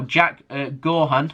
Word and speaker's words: Jack Gaughan: Now, Jack Gaughan, that's how you say his name, but he's